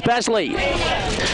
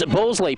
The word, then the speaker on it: Balsley: Was Basley. Creates great pressure. I should say it's Balsley, pardon me. Got the pronunciation wrong.